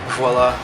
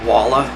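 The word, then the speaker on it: voilà: viola Loyola it's funny how people say voila as wala as it's and sometimes they'll even spell it with the W just to be really obtuse it's a French word man starts with a V I get the feeling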